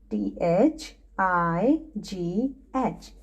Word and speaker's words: thigh: the next word is thai t h i g h thai it's a g h sound word okay kids t-h-i-g-h thigh